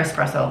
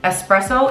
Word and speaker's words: espresso: someone every single time there is no X let's have the class right now espresso is e-s-p-r-e-s-s-o there is